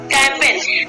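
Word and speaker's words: campaign: कैंपेन, कैंपेन में देखिए यहाँ पे एन आया, एन से पहले क्या आपका है जी आया, इसको भी हम क्या करेंगे जी को हम नहीं पढ़ेंगे, साइलेंट रहता है, मुक रहता है और इसको हम प्रोनाउंसिएशन नहीं करते हैं।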